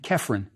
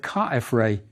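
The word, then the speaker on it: Khafre: successor also KF Ray the Greeks pronounced his name krine but we can see from the hieroglyphs that cfra is closer to the original it may mean something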